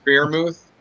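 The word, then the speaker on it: Freiermuth: and i did like the choice of pat bermuth um that's how you say his name i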